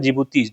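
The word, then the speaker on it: Djibouti: डी फॉर होता है जिबूती जिबूती की स्पेलिंग स्टार्ट होती है डी से डी जे आई बी ओ यू टी आई तो ये हो गया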